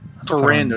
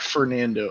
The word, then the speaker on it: Ferrando: like it's pretending yeah ferrando not fernando okay yeah ferrando is that how it's like actually pronounced yeah you flick the ours pronounce frendo all